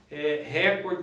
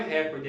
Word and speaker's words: recorde: Então, por exemplo, o Usain Bolt, por exemplo, bateu um novo recorde. Na verdade não é recorde, é recorde, tá?